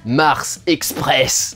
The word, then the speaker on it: Mars Express: On pourrait prononcer Mars Express bien en française, parce que c'est un film français, mesdames et messieurs.